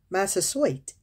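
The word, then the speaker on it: Massasoit: pilgrims only aid in the summer of 1621 master suite i think i'ma spell it for you m-a-s-s-a-s-o-i-t sent another indian hobo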